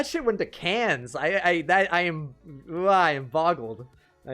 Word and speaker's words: Cannes: __ ] went to Cannes i am ryan boggle I am boggled I got pronounced con they out of you if you say it any other way oh now I wouldn't